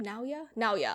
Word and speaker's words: Naoya: Naoya.